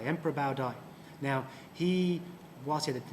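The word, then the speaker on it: Bảo Đại: emperor called Bao Dai gang policies for the pronunciation Bao Dai Emperor Bao Dai now he wanted that name Emperor was essentially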